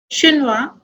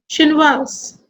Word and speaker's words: Chinois: As I told you, words ending with S, D and T are silent in masculine and sounds in feminine.